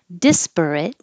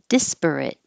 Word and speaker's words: disparate: this I didn't realize you have two options of where to put the stress and it doesn't change the meaning disparate or despair it disparate disparate and a-l-l-y means